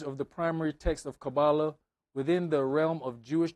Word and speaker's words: Kabbalah: Kabbalah or Qubala, Hebrew, Romanized, Qubala, pronounced Kabbalah, reception, tradition, is an esoteric method, discipline, and school of thought in Jewish mysticism.